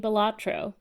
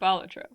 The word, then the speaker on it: Balatro: And this week we're playing Bellro or Bolatro, depending on what makes you happy.